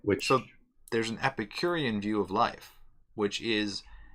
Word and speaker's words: Epicurean: So Epicureans would try to strive for the most enjoyment possible.